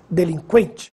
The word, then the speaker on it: delinquente: a letra U não agora preste atenção nestas palavras que frequente sequestro delinquente Agora sim você ouviu som da letra U Veja a diferença no